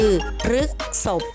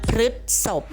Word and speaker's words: พฤษภ: คะ เป็น คำ นาม อ่าน ได้ 2 ลักษณะ คือ รึก ศพ หรือ รึ ศพ ใน คำ ประพันธ์ นี้